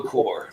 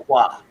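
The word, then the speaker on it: coir: The words cocoa core, right? Or cocoa fiber, or whatever people want to call it. If you look at it written out, it looks like it should be pronounced cocoa qua.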